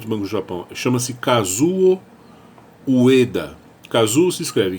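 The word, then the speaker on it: Kazuo Ueda: do novo presidente do banco do Japão chama-se casuo Ueda casou se escreve k a z o Ueda da Ueda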